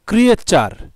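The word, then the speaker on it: creature: ক্রিয়ে TURE, চার, TURE, যে চার মানে চার উচ্চারণ হয় সেটা কিন্তু আমরা আরও ওয়ার্ড খেয়াল করলে পাবো, যেমন ফিউচার, সেখানে কিন্তু TURE রয়েছে, ফিউচার, নেচার, ন্যাচারাল, এরকম আমরা TURE এখানে আমরা চার উচ্চারণ করি।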